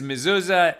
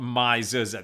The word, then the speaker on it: Mizuza: charles from louisiana uh fred says mezuzah yeah but the organization is called mizuza that's why we're pronouncing it their way they connect people with